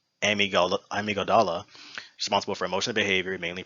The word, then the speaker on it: amygdala: one of the organs being the, I believe it's pronounced amygdala, responsible for emotional behavior, mainly processing fear.